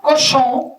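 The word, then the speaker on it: Cauchon: E, presidido por um bispo, Cochon, se escreve C-A-U, acho que está escrito em algum lugar.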